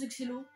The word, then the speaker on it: Excello: Prononcez comme vous voulez, je prononce Excello.